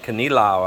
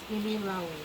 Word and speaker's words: kinilaw: And Melinda bought his catch today because we want kinilaw out of that, right, baby? Yes, kinilaw.